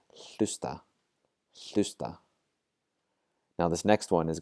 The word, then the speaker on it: hlusta: Rather than saying lusta, and ignoring the H, we're going to pronounce the H, hlusta.